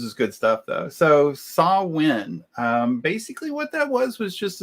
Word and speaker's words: Samhain: Samhain was it, and it's spelled Samhain, which looks like Sam Hain, but it's pronounced Samhain.